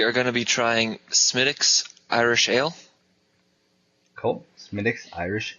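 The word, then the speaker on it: Smithwick's: I've heard it pronounced Smithwicks, like it actually looks like it reads. But I hear Smithwicks is what it's supposed to be.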